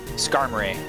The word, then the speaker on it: Skarmory: it is uh also it's definitely supposed to rhyme with armory right or in my whack right now uh skarmory that makes sense lemon